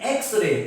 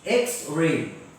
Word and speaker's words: X-ray: An X-ray. Here again, X is pronounced as E-X. X-ray. So this sound begins with A. X begins with A.